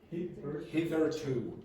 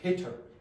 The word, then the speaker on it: hitherto: So you couldn't really say hither or hitter. You'd have to say hither, hitherto, hitherto.